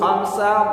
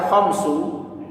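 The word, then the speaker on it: خمسة: Tinggal sekarang kalimat khamsa, kenapa kalian membacanya dalam bentuk fathah? Kenapa tidak kalian baca khamsu? Kenapa tidak kalian baca khamsi? Jawabannya karena ia menempati tempatnya maf'ul mutlak.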